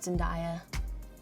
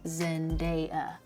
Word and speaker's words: Zendaya: My name is not Zendaya. My name is Zendaya.